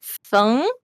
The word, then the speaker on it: Feng: So it's like Feng, like yeah, with a question mark at the end. I think that's how Feng? it goes. Yeah. So that's how Oh. you would pronounce it if like you're actually talking to me in like Chinese or something.